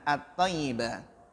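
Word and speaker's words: الطيب: Kenapa at-tayyibu? Ya, belum sampai ya. Ya, bacanya adalah at-tayyibah.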